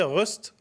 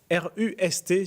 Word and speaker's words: Rust: Et là, je viens vous présenter Rust. Alors, RUST, si on veut, enfin, on le prononce comme on veut. Rust, c'est moins beau.